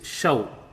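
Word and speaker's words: शौ: And show is pronounced like shou in shout.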